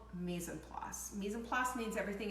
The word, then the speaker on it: mise en place: It's spelled M-I-S, then a next word E-N, and then place, the word place, pronounced place. So mise en place.